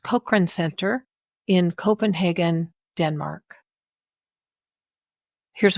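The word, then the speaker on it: Cochrane: Nordic um Cochran Center Cochran sorry pronounced kran Center in Copenhagen Denmark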